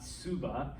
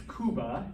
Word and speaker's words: Cuba: um cuba all right that's why the country the island 90 miles south of florida is not subah it's cuba because the sea comes before the u but um panama it's